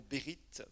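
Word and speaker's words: ברית: Un mot dans l'Ancien Testament qui est le mot Bérith. Bérith, ça s'écrit B-E-R-I-T-H.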